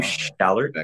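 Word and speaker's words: Schallert: William Shallert. Yes, not Shallot. Shallot, I believe, is the onion-like thing you try. I said Shallert.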